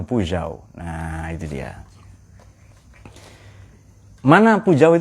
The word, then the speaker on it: Peugeot: Kalau di Prancis yang gambar singa, Peugeot itu cara bacanya Peugeot.